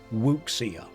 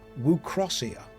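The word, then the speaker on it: wuxia: And I used to think this was pronounced wukia and now I know that it's actually pronounced wucia.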